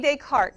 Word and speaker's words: Descartes: René Descartes is how you say it. I know it's spelled like Descartes, but it's René Descartes.